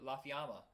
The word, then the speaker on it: La Fiamma: Michael prey was Italian his name was la fiamma when you kept saying it wrong and he's like a